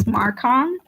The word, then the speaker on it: Marcon: clear, like, for example, I have a character whose name is Marcon, spelled like this, and when you don't know how to pronounce that O, I'll put like con as in con man, like that.